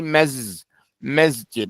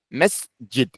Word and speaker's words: مسجد: So finish the sin before you start the jim. Don't say masjid or the masjid, the masjid. Nah, masjid.